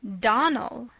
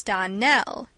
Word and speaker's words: Darnell: Clarice Elmyra told me that you pronounced our name Donald. Now, Miss Shirley, the correct pronunciation of our name is Darnell. Accent on the last syllable.